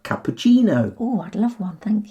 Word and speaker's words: cappuccino: we pronounce cc is in words we've borrowed from italian and with these words cc becomes a ch sound ch like cappuccino oh i'd love one